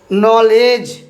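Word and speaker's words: knowledge: উচ্চারণ করব কি দন্তন্য কে থাকবে অনুচ্চারিত দেখুন নিশ্চয় আপনাদের খুব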